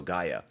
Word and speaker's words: Gaia: And he actually put in quotation marks, pronounced so Gaia.